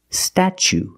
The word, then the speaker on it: statue: second or third syllable the t is pronounced like chicken and change so pronunciation statue statue for the first vowel we use the short ah like black cat sta then we use the CH sound statue for the second syllable we use the long u like Boot and moon ooh together statue this is the